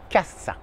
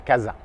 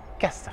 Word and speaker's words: casa: En espagnol, uniquement se, pas de ze. Una visita, la casa, et pas casa, casa.